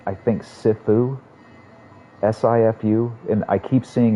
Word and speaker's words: Sifu: level is going to be like how's it pronounced sifu thank you dude there's a lot of [